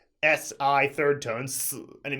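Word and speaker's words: 死: it's the only character in Chinese that is pronounced si third tone su and it means to die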